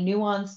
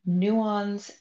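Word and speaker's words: NUANS: just want to ask can people see the Nuance dashboard on the screen I just want to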